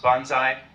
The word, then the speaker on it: banzai: So it was Toyama Masakazu who suggested it be pronounced banzai.